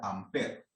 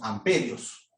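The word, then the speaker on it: Ampère: amper con iván pérez pero se pronuncia amper nosotros en latinoamérica le decimos amperios pero en realidad es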